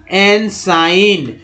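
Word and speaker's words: ensign: फिर देखिए एम्पिरिसिस्ट, ठीक है, और एम्बामर, एनसाइन, जी यहाँ जी साइलेंट है, एपिस्टल।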